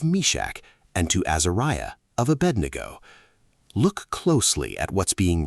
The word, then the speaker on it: Abednego: Aed ngo, pronounced Abednego, almost certainly means servant of Nego, referring to Nebo, pronounced Nebo, another Babylonian deity.